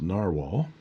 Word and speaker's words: Nahvalur: 90 GSM paper and this is the Narwhal pronounced narwhal eclipse and it has a fine steel nib